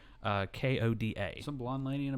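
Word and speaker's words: Hoda: But I guess the host at that point with this morning show was Kathy Lee and Coda, I believe is how you pronounce her name. It's just Koda.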